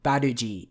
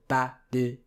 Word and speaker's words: Barrage: The se part is long, and the Barrage is all short, so Barrage.